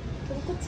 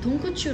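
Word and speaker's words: とんこつ: 돈코츠 라멘. 그치? 아, 한국 사람들 특징이 돈코츄 라멘 이렇게 된단 말이야. 츠가 츄 발음이 엄청 가깝게 나.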